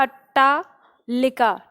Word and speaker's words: अट्टालिका: तो इसमें आपको ध्यान देना, अट्टालिका, ट ट है। ठीक है, अट्टा, अ ट टा, ये हो गया, और लिका। तो इस तरह के अट्टालिका शब्द आ जाएगा, जो जैसे गांव देहात